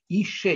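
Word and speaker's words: אִשֶּׁה: Ише, несмотря на то, что это слово пишется в точности как иша, женщина, здесь слово это происходит от какого слова? От слова эш, огонь.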